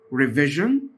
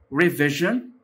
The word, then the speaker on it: revision: documentary documentary فيلم وثائقي، revision revision. لاحظ ان حرف الاس هنا بيتنطق ج ج، revision مراجعة، reader reader قارئ،